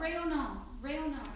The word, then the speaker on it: rayonnant: Oh, rayonnant.